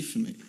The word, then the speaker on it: Fumey: Oh, yes, Billy Fumey. Fumey from Fumey? Like smoke in French.